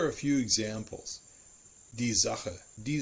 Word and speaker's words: Sache: The most complicated is actually the letter S. It is pronounced like a voiced sibilant, the Z sound, if it is followed by a vowel.